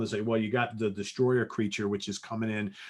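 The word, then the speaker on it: Destoroyah: a creature called the destroyer you think they're called destroyer but the way it's spelled is d-e-s-t-o-r-o-y-a-h uh this is actually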